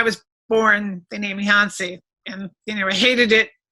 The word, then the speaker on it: Hansi: no your first name hansi okay yeah it's johnny in german actually it's like little hunts yeah my my grandmother